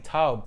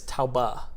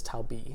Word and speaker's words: Taube: is yeah our table it's in German it's Taba but it is Toby or Toby I should say okay that's came to